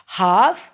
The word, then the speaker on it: half: HALF, past, PAST, past. हाफ past, इसमें एल नहीं बोला जाता, हाफ पास्ट।